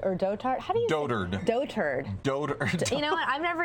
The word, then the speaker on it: dotard: was a mispronounced word I thought it was daughter like doddering like a doddering old fool right like the word daughter or daughter II but it's dotard this is trending everywhere